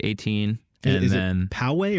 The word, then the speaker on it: Poway: and then poway or poe but you say poegians but it's actually called poway andy is learning so